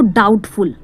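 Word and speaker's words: doubtful: फिर कह सकते हो डाउटफुल, इसमें जो बी साइलेंट रहता है, ठीक है।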